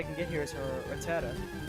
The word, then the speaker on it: Rattata: I always call them Rattatas, because that's just what I used to call them as kids, but I'm pretty sure that the formal pronunciation of it is Rattata.